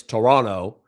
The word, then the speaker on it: Toronto: I need you Americans to stop pronouncing the second T in Toronto. It's Toronto. It's triggering triggering me to hear it wrong.